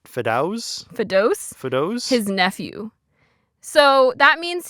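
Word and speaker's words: Fedous: fetus fetus oh no it's spelled f-e-d-o-u-s so it's like fetus Fidos his nephew so that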